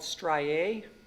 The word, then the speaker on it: strié: dragging or it's more fancy name is called striae striae is spelled s-t-r-i-e with the accent blocking is similar